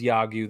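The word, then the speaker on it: 야구: together t-shirt for the podcast this hat says yagyu that's how you pronounce it it means baseball in korean and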